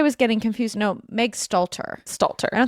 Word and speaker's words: Stalter: You pronounce her last name Slater, correct? Yeah. Megan Slater. Wait, Meg Slater? Is that wrong? Sorry, I'm actually having eight strokes today. Stalter.